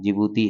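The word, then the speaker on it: Djibouti: से हो जाएगा आपका जिबूती क्योंकि जिभूती की स्पेलिंग में पहले डी आती है वो साइलेंट है ठीक है फिर ई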